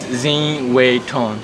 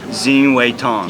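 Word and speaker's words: Zin Wai Htun: yeah it's pry hard to pronounce could you spell it z i n w a i h t u n zing wayon zing wayon yes yeah call me okay my name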